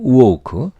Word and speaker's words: woke: 그래서 이 오는 세게 강하게 발음하지 않기 때문에 하고 소리가 확실히 나지도 않아요. 그래서 오와 어의 중간쯤 되게 적당히 소리를 내게 됩니다. 그러면 woke가 되죠. woke.